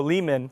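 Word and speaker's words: Leamen: No, Lehman.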